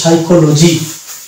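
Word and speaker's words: psychology: অনুরূপভাবে এটা হয়ে যাবে, এখানে পি বা যেহেতু পিএস দিয়ে শুরু হয়েছে, এটা হয়ে যাবে সাইকোলজি। তাহলে এই শব্দটা হয়ে যাবে সাইকোলজি। এই ক্ষেত্রে আমরা দেখতে পাচ্ছি পি সাইলেন্ট, অর্থাৎ আমরা যেখানে দেখতে পাবো শব্দের শুরুতে যদি পিএস থাকে তাহলে সেক্ষেত্রে আমরা পি এর উচ্চারণ করবো না শব্দের শুরুতে।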